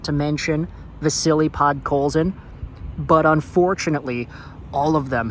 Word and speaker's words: Vasili Podkolzin: about former Vancouver Canucks 10th overall draft pick Vasili Podkolzin or as his name is actually pronounced, Vasily Podkolzin.